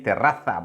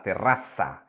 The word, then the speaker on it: terraza: You see, and in Spanish from Spain, you would say terraza, but in Spanish from Latin America, you will say la terraza. Z is pronounced like S.